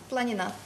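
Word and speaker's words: планина: І знову ж таки, якщо хочете говорити правильно болгарською, кажете українською і наголос навпаки. Гора, планіна.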